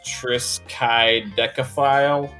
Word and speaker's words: Triskaidekaphile: It's Triskaidekaphile.